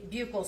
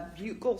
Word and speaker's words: buccal: Now, can you tell the jury what a buccal swab is? So a buccal swab or a buccal swab, depending on different people say it different ways, it's spelled B-U-C-C-A-L, and that is a cell that lines different orifices in our bodies.